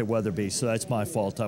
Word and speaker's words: Weatherbee: my fault because I I mispronounced your name at the beginning I just said weather I didn't say weather be so that's my fault